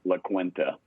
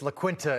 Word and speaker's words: La Quinta: hey Rob thanks for having me and it's pronounced La Quinta in East Tennessee uh East Tennessee it's La Quinta in my my nap of the woods Nick